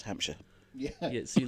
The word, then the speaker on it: Hampshire: Hampshire if you're very if you're very Posh it's Hamshire Hamshire yeah but those of us that live there is just Hampshire yeah yeah so you